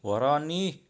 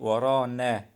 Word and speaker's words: ورانا: He pronounced the word wrong. He say وراني. It means behind us, but he pronounced it wrong. It should be ورانا. Behind us means ورانا na. At the end of the word, it's na na. The real pronunciation end of the word is na.